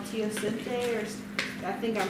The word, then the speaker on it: teosinte: well it comes from a plant called called teosinte or i think i'm pronouncing that right yeah yeah that's native to